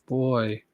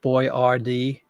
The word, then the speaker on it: Boyardee: And they just kind of anglicized it to Boyardee for the stupid Americans so we could pronounce it correctly. Chef Boyardee.